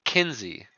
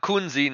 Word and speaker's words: Kunze: You guys, his last name is pronounced Kinsey, like Kinzee. Kinsey. Not Kunzi, not Kuenzi, not Kunzai. Kinsey. I should attempt to stop perpetuating incorrect pronunciations.